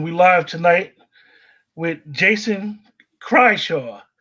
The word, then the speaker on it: Krychiw: We live tonight with Jason Krychiw. How do you Krychiw. pronounce it again? It's Jason Krychiw.